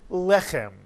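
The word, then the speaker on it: לחם: the word is pronounced lechem. And notice in this word, the accent is on the first syllable.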